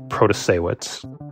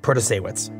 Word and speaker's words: Protasiewicz: It's Janet Protasiewicz. Janet Protasiewicz. Protasiewicz.